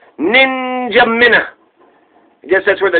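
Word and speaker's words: N'Djamena: was about to take it's actually pronounced just like it looks ninja mina which is the capital chad said ninja minutes spelled n-d-j-a-m-e-n-a ninja minnow ninja mina i guess that's where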